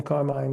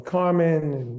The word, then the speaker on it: Carmine: give him the name Carmine, my son. He would have been the third because everybody calls me Carmen and Yeah. Come on, dude. M I N E doesn't spell men.